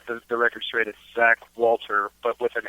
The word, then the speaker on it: Walther: ahead and set the record straight at Zack Walter but with an H - Walter so okay so it is pronounced that lter just spelled differently that's just